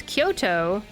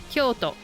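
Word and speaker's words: 京都: Both of them are long to um but if it's Kyoto, then the first part is long and the second part is short. Kyoto.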